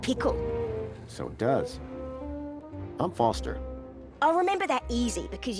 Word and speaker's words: Foster: so it does I'm Foster I'll remember that easy because your name rhymes with fossil and your old thanks